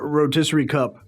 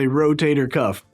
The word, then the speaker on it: rotator cuff: It's not rotisserie cup. It's not rotary cup. It's not rotational cup. It's a rotator cuff.